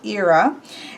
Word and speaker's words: Hera: So then we have who I always thought of as Hera, but Chris pronounced Hera.